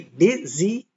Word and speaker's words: busy: So even though busy is spelt with a U, we pronounce it I, busy. Can you say busy?